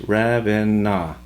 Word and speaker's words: Ravenna: Ravenna was named after a city in Italy and is pronounced Ravenna.